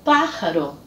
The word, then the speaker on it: pájaro: E um último exemplo, a palavra pájaro. Pájaro significa pássaro, com a sílaba tônica na antepenúltima sílaba.